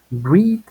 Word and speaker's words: read: Read, leer, es igualito en sus tres formas. Read, pero en pasado y en pasado participio se escribe igual, pero se pronuncia distinto. Read and read.